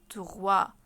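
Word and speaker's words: trois: رقم لاه رقم لاه اسمه توا توا توا توا الاس برضو مش منطوقه ولما بيكون عندنا حرف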